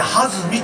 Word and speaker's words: 水: 今年のテーマ、ね、水という勢いの水と書いて弾みと言います。